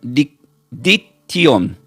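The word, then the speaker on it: δίκτυον: Y la palabra red del griego se pronuncia como diction.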